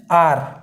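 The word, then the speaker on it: hour: अब देखिए ध्यान से, हम इसको आर क्यों पढ़ते हैं, क्योंकि बेटा ऐसा माना जाता है कि इसमें एच साइलेंट रहता है, ठीक। इसमें फर्स्ट लेटर जो एच है वो साइलेंट रहता है और हमारा प्रोनाउंसिएशन स्टार्ट होता है सेकंड लेटर से, जो कि हमारा क्या है, आर है, ओ यू आर, आर।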